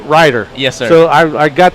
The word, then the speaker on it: Ryder: One week it's Ryder, next week it's Reeder, next week so it's Ryder.